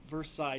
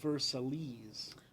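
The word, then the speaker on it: Versailles: world war if you if you sound it out it's versales right or veres something but if you the way it's supposedly pronounced is ver like lots of French words where like half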